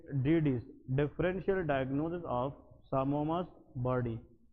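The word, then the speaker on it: psammoma: को हम हिस्टोपैथोलॉजी में सामोमास बॉडी कहते हैं। क्या कहते हैं, सामोमास बॉडीज। इसमें ये पी साइलेंट है, ठीक है जी, दैट इज कॉल्ड सामोमास बॉडी।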